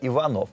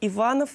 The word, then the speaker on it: Иванов: названия кстати о названии вот у нас тут возник некоторых пор иванов или иванов почему да антон палыч так решил поиграться с ударением антон палыч по моему был уверен как какое ударение нужно ставить это мы понять и